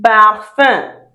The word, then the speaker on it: parfum: UM also We have it in parfum. Parfum. Parfum is perfume. Remember, we don't pronounce the last sounds. So it's not perfume. Parfum.